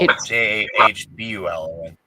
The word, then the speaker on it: Jahbulon: Yabalon, Jahbalon. Yeah. Right. Yabalon. Never heard of it till today. Babylon. Me neither. It's B-U-L. Jahbulon. B-U-L. Jabalon rhymes with Babylon.